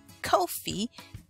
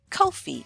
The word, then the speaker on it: Kofi: being Friday then your name would be Kofi Kofi Kofi if you're a male if you are a